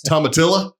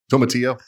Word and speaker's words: tomatillo: Tomatilla? Tomatillo? Is that better? There you go.